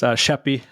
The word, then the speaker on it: Schaeppi: Let's talk about Joe Schaeppi. Is that a decent way to pronounce it? That works. Schaeppi.